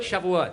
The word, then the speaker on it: Shavuot: Is that other one? Shove it? Shavuot. Stop trying to pronounce it.